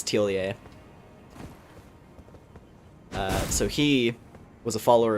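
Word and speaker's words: Thiollier: We have Tiolier, which I finally realized that's how you're supposed to say his name. It's not Tiolier, it's Tiolier.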